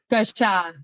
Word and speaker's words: Glauchat: Glauchat? Did I pronounce that right? Glauchat. Glauchat. Right. Remember, go. Shut the door without the T.